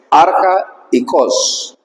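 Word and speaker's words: ἀρχαϊκός: Es un solo término, pero se separa. Dice arja y cos.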